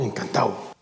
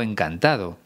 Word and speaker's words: encantado: como has podido escuchar yo he pronunciado la de en el participio encantado pero roberto verino dice encantado es algo que hacemos habitualmente en españa sobre todo en el lenguaje informal pero te recomiendo que no lo hagas aquí lo importante es